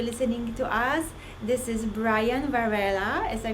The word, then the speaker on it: Brian Varela: going to be listening to us, this is Brian Varela. Did I pronounce it right?